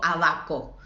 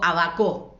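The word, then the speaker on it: ábaco: No digo abaco, ni digo abacó, digo abaco.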